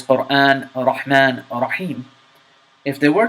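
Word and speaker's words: رحمن: English speaker they would be pronounced like this quran rahman and rahim notice that that are has almost no vibration at the time but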